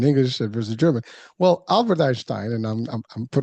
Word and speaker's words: Einstein: Well Albert Einstein and I'm I'm I'm throwing it in the German way.